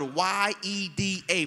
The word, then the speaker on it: yeda: The word thanks in the text in Hebrew is spelled Y-E-D-A, pronounced Yeda, meaning to give praise or give thanks.